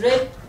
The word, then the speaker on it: read: it will become red however we pronounce it as red but the spelling remains the same so we shall say